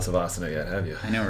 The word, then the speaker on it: Savasana: Kyle, let's talk about Kyle's the founder of Royal Crawl and Silent Savasana.